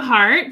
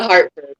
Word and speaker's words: Hartford: And then we're going to have Comika Hart come on in. And then, did I say it wrong? I said it wrong, didn't I? No, it's Comika Hartford.